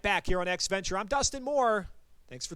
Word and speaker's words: EXEventure: the new name for virtual auto sports is x venture that's how you pronounce it exe executable programming stuff computer computer